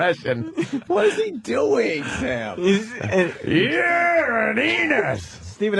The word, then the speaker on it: Enos: Enos rhymes with Venus.